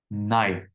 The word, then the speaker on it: knife: Knife. Knife. I don't know if this is what you had come up with, but knife. So the K is completely silent.